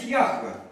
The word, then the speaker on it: Яхве: Иегова это произношение по-русски. В оригинале стоит Яхве. Яхве.